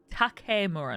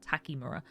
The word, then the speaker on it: Takemura: Takemura, not Takimura.